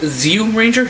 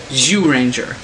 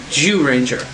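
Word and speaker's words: Zyuranger: of people think it's zoom ranger no it's ju ju ninja the z is silent the z is either silent or pronounced like a j so it's actually jew ranger jew ranger and also um as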